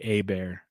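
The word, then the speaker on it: Hebert: off um joe says i do pronounce my last name like former saints quarterback bobby a bear even though i am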